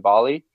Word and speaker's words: Bali: 15 years right and it rhymes with Olie Bali rhymes with olly you know B OE